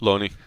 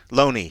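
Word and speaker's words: Lone'er: I certainly, you know, even though uh how do you say Lonnie? Looney. Looney.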